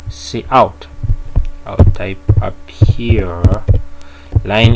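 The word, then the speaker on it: cout: need to understand here it is pronounced as c out okay what is use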